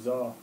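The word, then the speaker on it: Zo: I'm Zaw. I'm sorry, you're gonna have to tell me how that's spelled. Zaw. Zaw? Zaw. Like pizza. Pizza. Z-O. Z-O? Like pizza.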